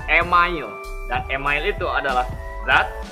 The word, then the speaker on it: email: Karena email dalam bahasa Indonesia dibacanya itu email.